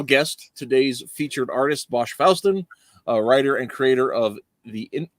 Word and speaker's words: Fawstin: And it's Fawstin. Fawstin. It's not okay. Like not like the Faustian deal with it. Okay, so it's like Boston, but not.